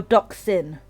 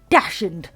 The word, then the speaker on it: dachshund: dachshund dachshund oh yeah we pronounce it dax dachshund or doxin well looks like dachshund instead of jackson jackson hey at least you've got the and you don't have you don't do because some people will be like dashing and i'm like no it's not dashing i know that's how it's spelled that's how it's spelled but it's not dashes let's say if